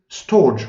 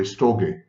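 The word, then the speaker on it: storge: and then there is storch or should be pronounced by the way stokey it's the love for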